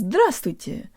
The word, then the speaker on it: здравствуйте: on Kira and today you learn how to pronounce the words thrust with you or hello let's start with the first syllable